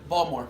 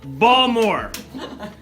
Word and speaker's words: Balmer: Pronounce that word. Balmer. Balmer.